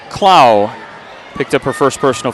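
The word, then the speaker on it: Clough: game her name is Tamiko CLA how's that huh c l o u g h and I did get a pronunciation from that so I got it from the Bulldogs too CLA picked up her first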